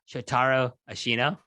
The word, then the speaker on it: Shotaro Ashino: By the way, it's Shotaro Ashino. You got to put the accents and the stress right on the certain syllables there.